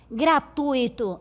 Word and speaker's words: gratuito: Veja, eu tenho esta aqui pronunciada gratuito e eu tenho gratuito. Certo? Qual é a palavra correta do ponto de vista da norma culta? Esta. gratuito, assim como fortuito, intuito, certo?